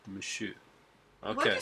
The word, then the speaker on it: Monsieur: Monsieur. Verdot. Don't pronounce the R at the end. It's silent. Monsieur.